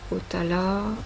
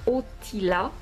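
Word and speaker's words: Othala: Otala ah benah déjà je la prononce très mal la prononciation exacte c'est otila son de la lettre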